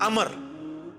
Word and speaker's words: Amr: था अच्छा लेकिन वह लफ्ज ही गलत है लज उमरू तो कोई लफ्ज ही नहीं है लफ्ज है अमर लिखा होता है उमरू लेकिन उसका मतलब वाओ जो है वो साइलेंट होता है और वाव का मतलब यह है कि आपने इसे पेश की बजाय जबर से पढ़ना है उमर की बजाय पढ़ना है अमर तो हजरत अमर बिन